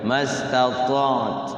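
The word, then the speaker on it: ما استطعت: illa ya, dua tuh mastata'at. Jadi taknya, nah dua huruf sukun itu penting, itu harus bisa cara mengucapkannya. Mastata'at. Jadi taknya sukun, ainnya juga sukun. Mastata'at. Jadi at gitu ya.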